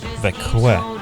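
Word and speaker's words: Växjö: Która ciągnie się daleko na północ do miasta o nazwie Vaxjo co czyta się Wekłe.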